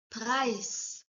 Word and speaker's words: Preis: Preis. The pronunciation of price is almost same. Only difference is in the spelling.